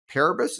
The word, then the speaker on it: Paribus: billion dollar uh prior to Ram Eric co-founded parabus is that how you pronounce it that's right which was a consumer